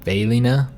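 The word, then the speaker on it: Velina: be named has ever pronounced like kirina and bailina respectively our system requires grand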